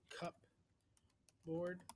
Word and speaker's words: cupboard: for a game the cup board we spell it cup board but we say cupboard and again you don't